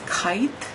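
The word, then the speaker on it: scythe: ten of Pentacles and the symbol is this kite that's how you pronounce it s-c-y-t-h-e so it says the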